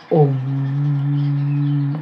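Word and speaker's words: ॐ: le chemin oui le om om m on prononce om ça c'est le son sacré pour vous guider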